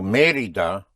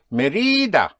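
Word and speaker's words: Mérida: Without the accent, it would be Merida. But it is not Merida but Merida. And you have an accent. You also have Merida incidentally in Yucatan Mexico.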